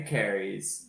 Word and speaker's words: Kehres: Larry Carries, which is the correct way to pronounce his name in this podcast, won 11 D3 titles from 93 to 2012.